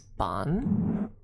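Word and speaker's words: bean: B e a n is bon and uh bon means woman essentially whereas she means fairy or fay or spirit depending.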